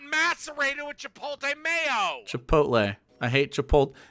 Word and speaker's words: chipotle: chipotle i hate chipotle don't say chipote okay every single one of you get chipotle out of your mouth and say chipotle and you get the creaminess of mayonnaise look at how it's spelled god damn it hell